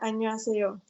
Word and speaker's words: 안녕하세요: Sin el sonido de la H, Ajá, sería 안녕하세요. exacto.